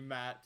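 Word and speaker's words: Maet: name is matt um it's the ae no it's pronounced matt matt you have expertise in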